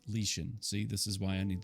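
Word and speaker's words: Lixin: and his family King lixen makes a decision no one should ever contemplate it's pronounced lean see this is why I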